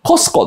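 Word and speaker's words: Costco: 言い方ですちなみコストコの t は発音しないそうです俺あのアメリカ見てですツアーコンダクターの一人ですコストば見つけてあっそうだって僕言ったらスネアの t は発音しませんかコスコですって言われ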